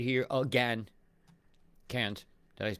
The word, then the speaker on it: Cairns: Cairns. Did I pronounce it right?